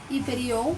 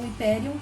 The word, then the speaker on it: Hyperion: Hyperion ou Hyperion, também depende da pronúncia que você fala, seria o titã da luz.